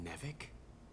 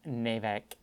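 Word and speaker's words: NEVEC: nice you're working with nevick it's pronounced navec thank you the frontier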